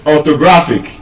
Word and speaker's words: orthographic: So, orthographic stress on the penultimate syllable, second to the last syllable.